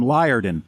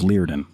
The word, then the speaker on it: Liardon: learning you know i used to call him liardon and i used to think man that's good night wow yeah um and then and then i uh i found out later that i was pronouncing it wrong and it was it was leardin so all of the